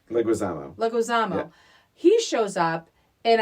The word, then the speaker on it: Leguizamo: and then John um I would say his name wrong leguizino Leguizamo Leguizamo he shows up and I was floored